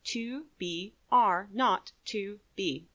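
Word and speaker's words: 2BR02B: were supposed to call the zero in the telephone number he pronounced not the number was 2 b r not to B it was the telephone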